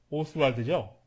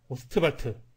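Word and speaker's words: Ostwald: 빌헬름 오스트발트, 영국식 발음으로 한다 그러면 윌헬름 오스왈드죠. 오스왈드. 케네디 대통령을 암살했던 그 암살범의 성과 똑같은데, 네, 독일식 발음으로 오스트발트 이렇게 발음하는 걸로 통일하도록 합시다.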